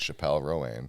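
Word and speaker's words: Chappell Roan: I just saw a video of her at a concert being like, you're saying my name wrong. It's Chappelle Rowan.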